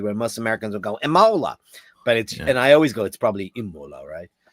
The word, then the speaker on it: Imola: Imola. How do you say that? Imola.